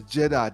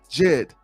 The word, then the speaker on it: Djed: pillar and it's interesting how they spelled the Jed pill like Jed it's spelled d j e d Jed and you'll see you'll